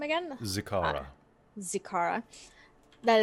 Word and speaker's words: Zikara: we anticipate that this battle with, how do you pronounce her name again? Zikara.